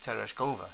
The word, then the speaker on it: Tereshkova: put the accent on the third syllable. So Tereshkova.